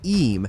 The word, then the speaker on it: Eyam: Eyam, Derbyshire, the village that chose to die. Eyam, pronounced Eam, sits in the Derbyshire Dales within the Peak